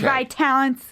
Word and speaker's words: Vitalant: have Brooke Derashan from Vitalent Vitalent. Vitalent formerly Bond Fes blood donation here today. Thanks so much for coming in. Yeah, everyone gets the name wrong so don't worry. It's vital talent.